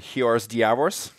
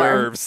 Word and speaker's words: hors d'oeuvres: Oh, like when you said hiors diavors? That's a tough word, guys. I'd never seen it before. Hors d'oeuvres. But it's fucking French.